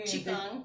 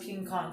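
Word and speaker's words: Qigong: I couldn't pronounce it, so I thought it was pronounced King Kong, so now I call it King Kong. Somebody made fun of me. And thank you, because now I know better.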